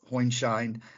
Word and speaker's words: Hoinscheid: Correct my pronunciation. Yeah, that's correct. Hoinscheid, and it's a tax court memo 2023-34, and